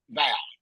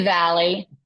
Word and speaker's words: Valley: Is it Valley or Val? It's Valley.